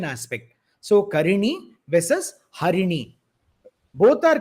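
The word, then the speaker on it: हरि: otherwise the meaning changes for example Hari when we chant with re long Hari becomes monkey Hari is monkey whereas Hari is the Lord narayana himself so the meaning completely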